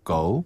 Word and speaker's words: 够: 您的钱不够. 기네요. 네. 다시 한번 그냥 您的钱不够.